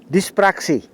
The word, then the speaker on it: dyspraxie: y s P r a x I e dispraxé comme ça se prononce moi je suis d'origine rouaine je suis